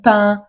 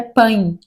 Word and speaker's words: pain: Mas no francês a gente tem muito som nasal. Esses sons são palavras como pain, bain, e o erro mais comum dos brasileiros é tentar pronunciar essas vogais como a gente pronuncia no Brasil, no português. Então, pain seria pain. Isso é completamente errado, nenhum francês vai entender,